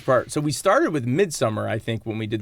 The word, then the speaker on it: Midsommar: So, and keep in mind, folks, we understand that the proper term is Midsommar. We know that's the right way to say it.